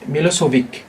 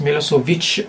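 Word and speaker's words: Milošević: original language in English some people may may read or pronounce it as Milosevic but in his Yugoslavian or Serbian language its Milosevic so in Chinese also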